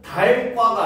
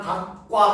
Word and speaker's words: 닭과: 그러니까 우리가 치느님 할 때 치느님 다음에 과라고 하는 조사를 붙이면 이때는 달과가 아니라 닭과 하잖아. 그치? 그죠? 닭과. 그쵸? 닭과 오리 했을 때 우리는 닭과 오리 이렇게 발음을 합니다. 그쵸? 그러니까 리을 기역 받침이 기역으로 소리 나는 거예요.